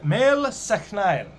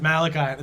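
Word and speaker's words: Máel Sechnaill: down the line um a fellow named mel seknile this is malachi this is they have a statue of him and it says malachi that's not his name m a e l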